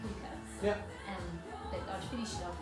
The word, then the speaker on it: Hygge: And here we've got Hygge as well, which is pronounced Hygge.